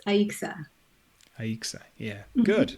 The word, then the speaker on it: Aixa: Spain one comes from apparently in Catalonia it's pronounced Asha you probably know all this but okay yeah sometimes it's Aisha something is Asha but in Puerto Rico it's aixa are you excited yeah good okay good well